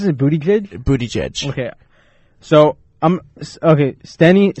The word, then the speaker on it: Buttigieg: discussing a Pete bootie judge how do you pronounce a bootie good bootie judge okay so I'm okay Steny started Hoyer Steny